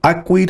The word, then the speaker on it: Akwid: CD and I saw a quid and I remember the way she pronounced it it's I quit I see systematically you